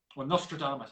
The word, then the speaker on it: Nostradamus: had an Australia mus Nostradamus actually that's how you pronounce it when I read it in my head it's not remedy must Nostradamus but um yeah I'm